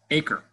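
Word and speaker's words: 8CRE: It's abbreviated number 8, CRE, and it's pronounced ACRE.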